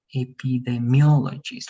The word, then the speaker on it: epidemiologist: Y si lo leemos más rápido, el estrés va a estar en esta parte. Epidemiologist. One more time, please. Epidemiologist.